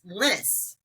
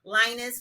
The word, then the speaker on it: Lynnis: The first thing is that Leslie is my sister's name, and I wanted to let you know that actually my name rhymes with Dennis. It's Lynnis.